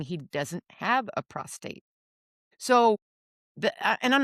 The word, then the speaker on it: prostate: that cell had a prostrate. Did I do it again? I did. You did say prostrate. You lay prostrate at the foot of pronunciation of prostate.